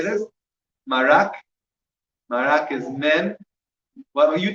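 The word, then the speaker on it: מרק: Marak. Marak is mem. Well, you tell me how it's spelled mem.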